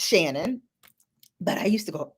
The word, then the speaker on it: Shannon: younger years when people would call me sharon or people didn't know how to pronounce my name which is shannon like okay you didn't